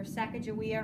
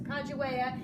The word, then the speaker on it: Sacagawea: and Clark expedition, Sacagawea, we used to call her Sacagawea, or a lot of people still call her that, but apparently it's pronounced Sacagawea, and Manifest Destiny.